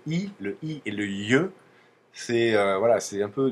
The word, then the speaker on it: й: ces de lettres là il faut juste savoir que là quand il y a pas d'accent et ben on a un i un i mou comme je vous le disais et quand il y a un accent c'est le c'est le ye voilà c'est un ye ça veut dire que